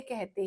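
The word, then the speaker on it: car: जैसे इस वर्ड को ब्रिटेन में का मतलब आर साइलेंट होता है इसका।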